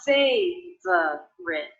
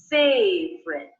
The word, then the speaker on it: favorite: one of my favorite I noticed that I'm dropping little unstressed syllable in favorite so it's not phase of rip but simply favorite favorite favorite things and